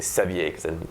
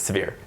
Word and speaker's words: Sevier: that's John severe um I would say Sevier in Quebec but it's severe is how you pronounce that I guess uh he